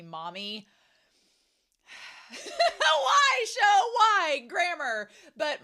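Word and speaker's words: Mami: mispronouncing it and saying mamy but it's supposed to be Mommy why show why grammar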